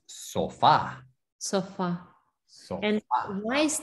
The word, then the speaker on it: sofá: Sí, entonces acuérdate, hay acento en la A. No, sofa es sofá.